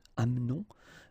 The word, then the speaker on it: amenons: It's a silent here, mute, amenons.